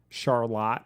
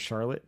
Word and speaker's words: Charlotte: Charlotte instead of Charlotte. No, it's Charlotte. Everybody knows that.